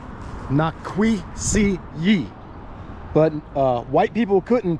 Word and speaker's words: Nikwasi: This mound here was originally called Nikwasi, but white people couldn't pronounce Nikwasi, so they called it Nikwasi.